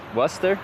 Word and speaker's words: Worcester: Worester. Worester. It's not wora.